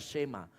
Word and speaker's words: Shema: Pada saat Ulangan 4 ayat 1 itu berkata, dengarlah hai Israel, kata dengarlah di sana itu dari kata Shema, tulisannya sama tapi dibacanya Shema.